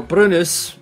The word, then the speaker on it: Brynäs: mean today british or brunes if you you use the swedish pronunciation sign alexander william krentz